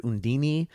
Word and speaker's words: Undine: Well, are you familiar with this fairy tale, Undine, as we kind of pronounce it in English and here in America? Whereas I heard some places Undine, and I also heard Undini.